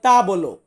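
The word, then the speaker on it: tavolo: এই টেবিলকে বলা হয় তা বলো। তা বলো, বা অনেকে আমরা এমনটা উচ্চারণ করি তা বলো, সে একই, মানেটা একই, মুখ দিয়ে বেরোলে এমনটাই সাউন্ড বের হয় যে তা বলো।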